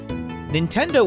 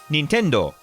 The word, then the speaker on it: Nintendo: it's pronounced more like Nintendo. Nintendo. Kind of with more of an emphasis on the do part of the word at the end. Nintendo.